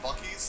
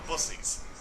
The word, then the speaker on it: Buc-ee's: Buc-ee's that they mispronounce. What do they call it? You're not gonna like this. They call it Bussies. What? Buc-ee's. They call it Bussy. What's Buc-ee's? It's a convenience store chain